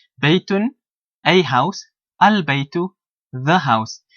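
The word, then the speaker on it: بَيْتٌ: And most of the time, an indefinite noun, if you listen how I pronounce it, baytun, it will have a dhammatain, a dopesh in the Urdu term, on the ending. So baytun.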